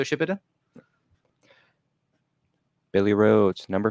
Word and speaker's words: Shippuden: Emma says that's not how you pronounce Shippuden. It absolutely is. It's Naruto Shippuden.